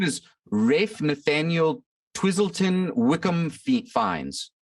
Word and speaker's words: Ralph: like fiennes or something i'm pretty sure it's ralph finds no it's refined according to google rafe r-a-y-f is how it's pronounced interesting so how